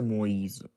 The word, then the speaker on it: Moïse: When you by the way Moïse. see this accent, it means that you have to pronounce it like E. When you see the two dots.